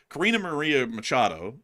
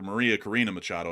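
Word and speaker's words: María Corina Machado: And that's also the other thing as well, is that Karina Maria Machado, if I'm getting her name correct, or Maria Corina Machado, I believe that's the correct way to say it, she was the candidate against Maduro in the last election.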